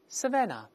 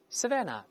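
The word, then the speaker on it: savannah: 那大草原，我们读一下 savanna，最后一个 h 是 silent，是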